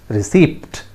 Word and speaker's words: receipt: That is not pronounced as receipt. That is not pronounced as receipt. P is silent there, friends.